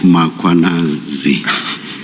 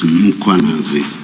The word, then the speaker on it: Mkhwanazi: You repeatedly talk of muanazi. There is no a right at the beginning of uh that first syllable. The a is after the h. So it's muanazi, not muanazi.